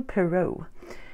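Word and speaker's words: Poirot: not saying that word his name right a pero and I noticed that there's a movie coming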